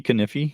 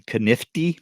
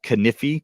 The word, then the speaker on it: Kaniffy: we leave so the channel is called Thrifty kify you can see it on YouTube the same name it's uh not Thrifty kiy which I hear a lot of people mispronounce yeah it's kify two FS and um we also have a